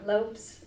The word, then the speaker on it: Lopes: But yeah, Lopes is the pronunciation for the Portuguese.